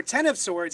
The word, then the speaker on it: X of Swords: we can do x-men x of swords or ten of swords actually is how it's pronounced ten of swords and